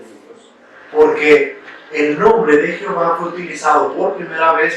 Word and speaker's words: Jehová: Los masoretas fueron a introducir las vocales de Adonai aquí, solo para darle pronunciación. Entonces tenemos que pusieron la A, la O y la A, quedando de esta manera. Pero para darle una mejor pronunciación, la E, que quedó como Jehová, que después pasó al español como Jehová.